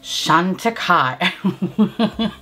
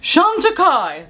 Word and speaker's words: Chantecaille: Why did I say it like that? I guess I was just trying to do like Charlotte Tilbury and Chantecaille. It just doesn't go. Chantecaille! That probably sounds more appropriate.